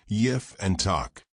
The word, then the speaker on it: Jephthah: The word is a compound of E and Patah, or some have it as Yif and Tach. The P is enunciated as F, like with the Greek Phi.